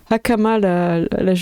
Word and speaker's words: hakama: Hakama, merci Daro. Avec le H qu'il faut bien prononcer. Hakama, je pense.